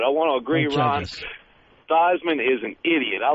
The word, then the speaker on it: Theismann: But I want to agree, Ron, Theismann is an idiot. I like when he changed his name to rhyme with the Heisman back in college.